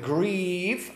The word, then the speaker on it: grieve: So you hear with grieve, the long E vowel with the short I in sieve.